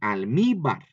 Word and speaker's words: almíbar: Si no llevara acento, a lo mejor diría almíbar, ¿verdad? Pero lleva acento ahí, almíbar. Separamos y vamos a encontrar tres sílabas. Al, mi, bar. Bar es la última sílaba. Mi es la penúltima. Ahí está, es donde estamos viendo que está el acento.